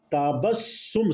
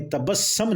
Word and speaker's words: تبسّم: یہ باب تفاعل ہے، دوسرا اس کا صحیح جو تلفظ ہے تبسم نہیں ہے، بلکہ تا با تبسم، سین کے اوپر پیش پڑنی، تبسم نہیں ہے، تبسم ہے، ٹھیک ہے۔ قرآن پاک